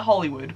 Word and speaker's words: Holywood: Well, we call it Hollywood, but it's spelled Holywood.